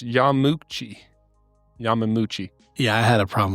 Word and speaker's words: Yamauchi: So Nintendo was founded in 1889 in Kyoto, Japan by, as we said, Fusajiro I said it wrong before. It's Yamauchi.